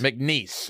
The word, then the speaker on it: McNeese: McNeese, as in like knees? I don't know. How do you pronounce it? McNeese. McNeese.